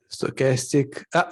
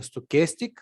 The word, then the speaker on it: stochastic: works it oscillates good sarcastic how is the pronunciation stochastic okay stochastic yeah stochastic and is it